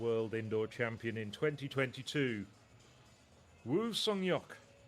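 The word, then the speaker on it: Woo Sang-hyeok: the world indoor champion in 2022, Wu Seyok, giving it the Korean pronunciation with the family name first.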